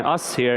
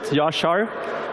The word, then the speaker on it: Yashar: Don't mind learning how to pronounce it, Yashar. When I was living in the US, I called myself Usher, so you can call me that when you talk to me afterwards.